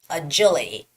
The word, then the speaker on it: agility: the words were agility agility the stress goes on the first eye agility agility the second